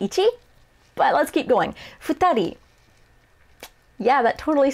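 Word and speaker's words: 二人: even close to ichi but let's keep going futari yeah that totally sounds like knee doesn't it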